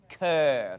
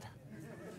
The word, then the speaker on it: cœur: I don't know, can you pronounce it right? Cœur. Cœur.